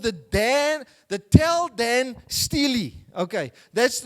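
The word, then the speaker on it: Tel Dan Stele: piece of stone is called the Dan the tell Dan Steely okay that's how they pronounce it and I want you to read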